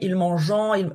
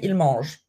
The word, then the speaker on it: ils mangent: remember in present tense, you probably learned that we don't pronounce the ENT. Il, par exemple, they eat, ils mangent. We spell ENT, but we don't say ils mangeant, we say ils mangent.